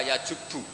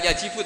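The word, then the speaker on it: يجبّ: Itu bacanya bukan yajibu tapi apa? Yajubu ayaktau.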